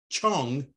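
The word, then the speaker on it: 重: However, the same character zhong can also be pronounced chong, translated as repeated overlapping.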